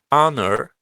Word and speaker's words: honor: Here the subject is the planting of a church whose honor. Is it honor or honor? Honor? Honor. Honor. Honor. Honor. With the silent H or Honor.